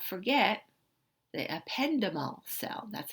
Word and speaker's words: ependymal: Okay, but let's not forget the ependymal cell. That's how you pronounce that.